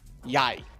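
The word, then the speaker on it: jeg: like you have a word that's like yai right but yeah spell j-e-g which in English is Jag yeah which is just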